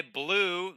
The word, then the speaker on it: Bleu: Goner Demo by Blue. The official pronunciation is Blue.